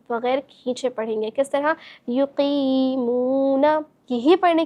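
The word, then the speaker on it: يُقِيمُونَ: युक़ीमूना, इसको हम हिज्जे के साथ पढ़ के देखेंगे। इस तरह या पेश यू, क़ाफ या ज़ेर क़ी, युक़ी, मीम वाव पेश मू, युक़ीमू, नून ज़बर ना, युक़ीमूना, युक़ीमूना।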